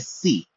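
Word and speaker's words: ψ: 23वें अक्षर को हम लोग कहते हैं सी, पी एस आई, जहां पर पी साइलेंट है। बहुत सारे लोग साई बोलेंगे, बट इसका एक्चुअल उच्चारण है सी।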